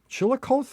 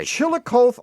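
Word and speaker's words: Chillicothe: Chilikoth. Is that how you pronounce that? Yeah, I would say Chilikoth, Ohio.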